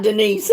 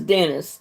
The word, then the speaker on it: Dennis: in Duke Oklahoma and it's Dennis okay not Denise huh girl's name is Denise your name is Dennis okay we got that